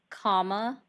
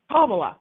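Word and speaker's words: Kamala: Uh, what's the correct If you tell me the correct pronunciation, I will say it correctly. What is it? Kama. Kamla.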